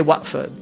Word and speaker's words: Watford: right but they say watford why because they don't pronounce the t if you go to